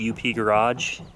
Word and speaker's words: UP Garage: It's UP Garage, not Up Garage like the company in Japan.